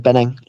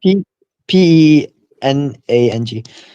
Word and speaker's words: Penang: Penang. Sorry, how do I spell that? Bang. P E N A N G.